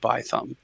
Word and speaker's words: Bithumb: However, if you're from the South, it's not by thumb.